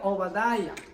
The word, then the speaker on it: Obadiah: Como ustedes ven ahí, Abdías en hebreo se pronuncia Obadiah, que quiere decir siervo o adorador del Señor.